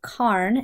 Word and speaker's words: Calne: Today we are going to check out a market town called K. It's spelled C A L N E, but from my research, K is the local pronunciation.